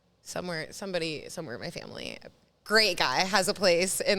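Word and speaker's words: Grimaud: my grandma's nephew somewhere somebody somewhere my family great guy has a place in the south of France uh that he let us use in a place called called grea which is spelled g r i m a u d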